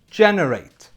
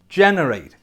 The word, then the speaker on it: generate: But verbs which have ATE at the end are pronounced ate. Ate. Let's take a look at some examples. We need to generate more sales. Generate. Generate.